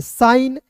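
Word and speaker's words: sign: पढ़ेंगे नौ एस आई जी एन को पढ़ेंगे साइन टी ई एस आई जी एन को पढ़ेंगे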